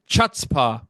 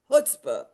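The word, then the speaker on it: chutzpah: humor heart and chutzpa did I say it right no chuta huta chuta oh my God why can't I say that right humor hurt saying it wrong it's hutzpah huta I kept saying cha oh my gosh I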